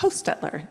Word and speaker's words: Hostetler: how do you say your last name H Hostetler Hostetler is the author of this book